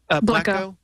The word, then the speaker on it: Blekko: I can't remember if blekko has a slash tag.